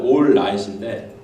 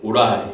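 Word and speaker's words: all right: 정확한 발음은 올라잇인데 오라이 콩글리시로.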